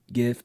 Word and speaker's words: GIF: I don't say hard G GIF because it sounds like the word gift. GIF is more unique. But to me, GIF sounds like the peanut butter.